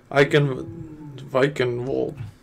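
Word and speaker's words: Eichenwalde: Because it's German and they pronounce. Eichenwald. Literally, they pronounce their V's as W's and W's as V.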